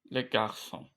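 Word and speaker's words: garçons: Le garson sondaki s okunmuyor ya zaten okunuşu aynı.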